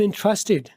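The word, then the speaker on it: interested: Number 21 पर रखा है, आई एम इंटरेस्टेड, आई एम इंटरेस्टेड, आई एम इंटरेस्टेड। इंटरेस्टेड British, इंटरेस्टेड American. इंटरेस्टेड British American दोनों बोलते हैं। अमेरिकन वाले पहले वाले टी को साइलेंट अक्सर कर देते हैं।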